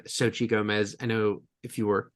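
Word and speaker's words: Xochitl Gomez: So, um I just remember that she pronounced her name Sochi Gomez.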